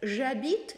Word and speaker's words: j'habite: И даже если вот эта аш у нас стоит, она только стоит на письме. Когда мы произносим глагол «habite», да, это начинается с звука «а». «J'habite» поэтому.